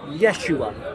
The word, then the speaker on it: Yeshua: or Aramaic in in in Hebrew yahoshua yeah now they believe that the second temple period when Jesus was alive Jesus was alive that will be pronounced Yeshua so the the name